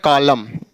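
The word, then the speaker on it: column: तो क्या हो जाएगा कॉलम ऐसे कंडेम ऐसे डी ए एम एन तो डैम ना कि डैम या यानी एम के बाद एन साइलेंट होता है तो यह हमारा हुआ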